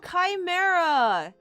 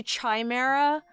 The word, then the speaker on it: chimera: You know, when I'm not seeing your name, I always want to say chimera for some reason, and but having colorful before chimera reminds me that it's a hard C sound because of the alliteration. Without that colorful part, I always go to chimera.